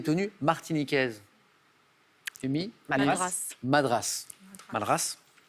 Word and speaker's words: Madras: Madras, avec un S qui se prononce effectivement.